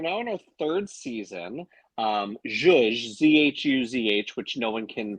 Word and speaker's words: Zhuzh: Zhuzh, Z-H-U-Z-H, which no one can pronounce, spell, say, I have found is the bane of my existence of naming it this.